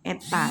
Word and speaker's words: eta: Eta, ini bacanya eta, sama dengan 1 min T2 per T1 dikali 100%.